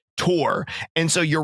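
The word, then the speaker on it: Tuor: to point out that Saint bear says the word tour he says cure and he is insistent that it's the right way to say it and every person I've ever spoke to that I know of says that he's wrong so it's not said cure it said Tor and so you're wrong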